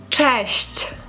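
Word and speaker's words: cześć: тому що знову ж таки багато хто неправильно вимовляється слово кажуть це честь тому обережно слухаємо уважно честь честь честь одночасно означає і привіт і па-па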